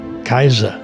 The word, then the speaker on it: Caesar: By the way, the German word Kaiser, meaning emperor, is simply a transliteration of the Latin word Caesar, which in Latin is pronounced Kaiser.